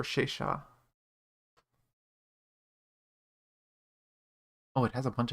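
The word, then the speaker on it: Sesa: in the game yeah it's pronounced or shaysha oh it has a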